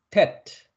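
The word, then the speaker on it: טית: tet, tet, 티귿 발음입니다.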